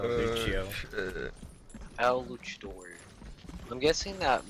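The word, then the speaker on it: Lúcio: It's called a Lucio, dude. Like, that's how they pronounce it in Brazil, Lucio.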